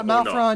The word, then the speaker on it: Malferon: Is it Malfuron? Is that the corre correct pronunciation? Yeah, Malfron. You can just call me, you know, either way.